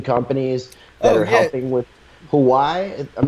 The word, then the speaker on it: Huawei: It's just Huawei. Huawei. Okay. Yep, Huawei, but with like H's everywhere.